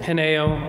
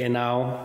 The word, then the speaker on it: Henao: Is that how you pronounce it? Henao, or in Spanish you can say Henao. Henao. But you can just say Henao, since it's easier.